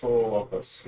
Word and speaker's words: Parasaurolophus: Parasaurolophus, yeah.